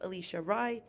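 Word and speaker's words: Alisha Rai: let you know that it is pronounced alicia rai and i won't be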